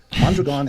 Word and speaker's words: Mondragon: yeah well let me correct you about mondragon which is by the way how it's pronounced mondragon has multiple parts some